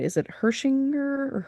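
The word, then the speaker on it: Hechinger: Is it Hershinger or Herchinger? The the Hershinger report yes so Yeah.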